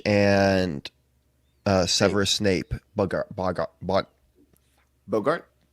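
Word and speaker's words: Boggart: uh severus snape bought bogart bug not bogart no it's not not like humphrey bogart it's a okay you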